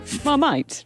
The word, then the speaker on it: Marmite: Why did you Marmalade. pronounce it like that? Marmite.